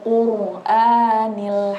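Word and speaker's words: القرآن: Nah, jadi yang pertama tadi koreksi dari saya, cara baca ro tafkhimnya belum terlihat. Kan Yasin wal Qur'anil Hakim. Itu kan qaf wal qur. Nah, ro-nya itu bukan qur biasa dibacanya, bukan qur gitu aja.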